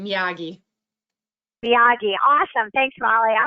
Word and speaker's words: Miyagi: And and how did you say Mr. Munagi? Mr. Muagi? I can't remember how to say his name either. It's been a long time ago. But Miyagi? Yeah, they're getting some people in the chat saying Miyagi.